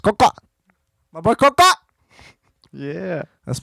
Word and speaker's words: COXO: just spell it out, COXO, pronounced Coca.